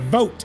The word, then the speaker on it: Vote: his name 100% right vote is correct vote teling is how it's pronounced so that's how that